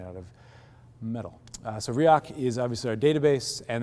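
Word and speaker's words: Riak: love coming to these things so much it's pronounced riok although the joke is if you use it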